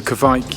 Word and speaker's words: kveik: You put Kevin instead of Kvike, because it's Sean. It's not a Kevin yeast, it's a Kvike yeast.